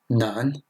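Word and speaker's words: 难: Ce caractère se prononce ch, ce qui est le verbe manger. Et enfin, nan, ce qui signifie difficile.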